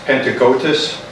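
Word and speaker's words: Panagiotis: It's Pentecotus Stephanitis Ficino. They called him Peter. Can you spell it?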